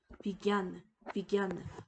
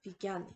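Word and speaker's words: विज्ञान: 기어, 진야가 아니라 겨음으로 겨라는 음으로 발음되게 됩니다. 그래서 옆에 있는 단어를 보시면요. 비기안, 과학이라는 단어 비기안 되겠습니다.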